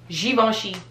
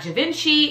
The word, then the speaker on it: Givenchy: we've already seen it givenchy givenchy it's not javinci it's not gavin chi it's g very french very you know very